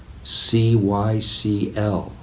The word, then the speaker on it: cycl: Cycl, C-Y-C-L, or as it's pronounced often, cycl, as in bicycle.